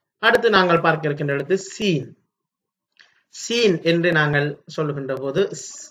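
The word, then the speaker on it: سين: சரி, அடுத்து நாங்கள் பார்க்க இருக்கின்ற எழுத்து சீன்.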